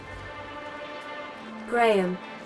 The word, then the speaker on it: Graham: what this propaganda is Graham Graham Graham that's two syllables